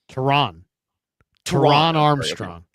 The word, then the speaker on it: Taran Armstrong: Taran Armstrong.